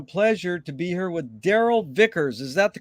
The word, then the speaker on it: Darrell Vickers: honor and a pleasure to be here with daryl vickers is that the correct way to pronunciate it yes it is that is absolutely